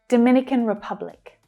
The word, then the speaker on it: Dominican Republic: There's a stress change. Now we're stressing the second syllable, and the others become short and fast. Dominican, Dominican, Dominican Republic.